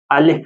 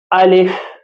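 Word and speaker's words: ألف: کرتے ہیں۔ الف الف، الف نہیں پڑھنا ہے، الف الف، خاص خیال رکھیں، الف جو ہے وہ اردو تلفظ ہے، تو آپ پرہیز کریں، مجہول نہ پڑھیں، اردو تلفظ کے ساتھ نہ پڑھیں، بلکہ جو عربی لہجہ ہے اس زبان میں آپ پڑھیں۔ الف، اسی طرح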